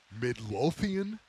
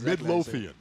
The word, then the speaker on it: Midlothian: and and I'm here okay speaking of here Midlothian Virginia yeah is that how you say it yeah that's ex Midlothian right there man it sounds so medieval Midlothian